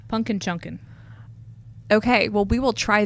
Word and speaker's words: Punkin Chunkin: going to do a pumpkin chunking contest that's not how you say it how do you say it punkin chunkin okay well we will